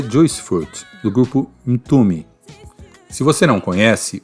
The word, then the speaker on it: Mtume: Joyce furto do grupo into me se você não conhece o nome é com m mudo no começo por isso a pronúncia é into me nome o sobrenome de